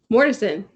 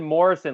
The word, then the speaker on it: Mortensen: Mortensen. Oh, okay, yeah, you said it right. Never Yeah, mind. okay. I'm just like, I thought you said Morrison, like Van Morrison.